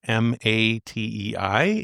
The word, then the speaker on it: Matei: I think they pronounce it Matai. It's Matei.